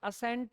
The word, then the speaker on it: ascent: इसका भी pronunciation असेंट ही है, ASCENT. The pronunciation is वन एंड the same, same he pronunciation है.